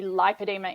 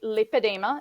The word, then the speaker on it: lipoedema: the same thing but we feel that the pronunciation needs to be lipedema in Australia because if you say lipidemia it's too similar to lymphadema but it's also